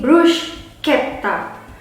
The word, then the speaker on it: bruschetta: Jadi tadi kita sampai di bruschetta. Karena ada CH, bacanya pakai K, jadi bruschetta. Ada penekanannya di situ. Bruschetta, double T.